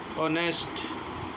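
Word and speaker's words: honest: जैसे ऑनेस्ट ऑनेस्ट ईमानदार तो एच के बाद ओ है।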